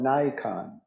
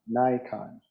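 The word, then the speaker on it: Naikan: that comes from Japanese Buddhism this is called Nikon Nikon if you look it up on Google you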